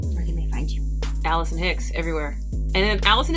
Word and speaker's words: Allycin: Allison Hicks everywhere. And then Allison is spelled totally ridiculously, so that is ALLYCIN Oh, Hicks.